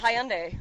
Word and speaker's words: Hyundai: I thought Hyundai was coming in too. Hyundai? That's how I like to say it. That's how the freaking Brits say it, man.